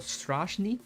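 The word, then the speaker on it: Страшный: Cyrillic transliteration um uh he is called strashni so I will be calling him that if you have no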